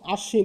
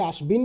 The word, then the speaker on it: আশ্বিন: এখানে আশ্বিন আমরা বলি আমরা একে আশবিন বলি আশবিন বলি না আমরা কি বলি